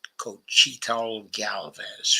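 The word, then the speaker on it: Xóchitl Gálvez: Her conservative rival's name was Xochitl Galvez. That's the way you pronounce that. Xochitl Galvez.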